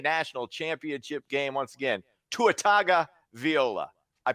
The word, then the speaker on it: Tua Tagovailoa: Once again, Tua Tagovailoa. I pronounced his name right.